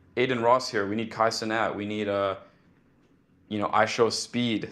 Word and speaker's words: Kai Cenat: How do you even say it? K Senat. Kai Cenat, yeah. Yeah, Kai Cenat.